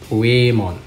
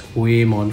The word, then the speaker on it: Whamon: So it's whale, like that's how they would pronounce whale. So Whamon. So it's just based on the romanization of the Japanese character, so I guess that's how we're supposed to pronounce it. So I'm just going to pronounce it as Whamon from now on.